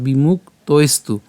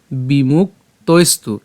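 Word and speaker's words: বিমুক্তৈস্তু: যে ত টা রয়েছে এই ত এর সাথে আমরা ঐকারকে নিয়ে গেলাম তাহলে তৈ এবং দেখেন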